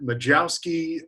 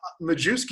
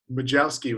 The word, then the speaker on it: Majewski: take anything close but i've heard majowski majowesky mahouski um you know they tried to over pronounce it majewski is the most common just because that's the way it's it looks um but at winter ball i was majeski and that was that was pretty funny especially with the accent